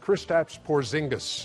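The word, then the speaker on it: Kristaps Porziņģis: and what's what's tip number four oh it's pronounced kristaps porzingis okay there you go and and what is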